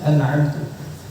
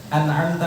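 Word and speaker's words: أَنْعَمْتَ: Contohnya apa? Dia bacanya siratal ladzina an'amtu 'alaihim. Hurufnya tidak berubah. Kalau tadi kan bagi huruf. Nah, ini harokatnya merubah makna. An'amtu 'alaihim dia baca. An'amta 'alaihim artinya siratal ladzina an'amta 'alaihim, jalan orang-orang yang engkau beri nikmat.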